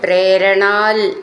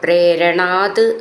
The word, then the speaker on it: പ്രേരണാത്: പ്രേരണാത് അങ്ങയുടെ പ്രേരണ കൊണ്ട് ഇവിടെ പ്രേരണാൽ എന്നാണ് എഴുതിയിട്ടുണ്ടാവുക പ്രേരണാത് എന്നാണ് ഉച്ചരിക്കേണ്ടത് ഇഹ കിം ചിത്രം ഇതിൽ